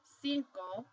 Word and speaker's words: cinco: So for example, you have this word, cinco. The C, the first C is followed by an I, so it's going to make an S sound, whereas the second C